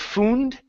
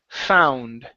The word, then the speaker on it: found: the word found okay instead of fund okay it's an ow sound found found good nice job nice